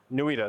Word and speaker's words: NWIDA: NWIDA, that's how we pronounce it.